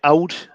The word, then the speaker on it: old: silence is that right l is silent yeah so you say it out old woman you're going